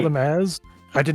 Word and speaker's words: AZ: For those who said like on the bulb cast that AZ's name is pronounced Az, I have never once thought it